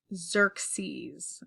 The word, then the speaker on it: Xerxes: later in 480 BC by the way this name is pronounced Xerxes okay Xerxes so here's what the